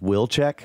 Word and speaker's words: Wilczek: The watcher says his last name is pronounced Wilczek.